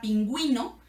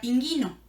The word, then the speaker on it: pingüino: suena por ejemplo una la palabra pingüino sino llevar a la diálisis diría pinguino entonces es para cuando